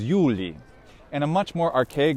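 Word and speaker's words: Iuli: long letter i so the evocative of julius isn't julie but is yuli and a much more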